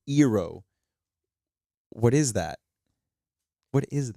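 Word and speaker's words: Iroh: know for three years you're just used to saying aang saka iro uh there was another one too that they also butchered they're not butchered but they kind of changed um but then you hear like ong soka ero what is that what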